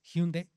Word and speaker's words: Hyundai: La marca de autos se escribe con h Hyundai, que es Hyundai, así se pronuncia, es coreana.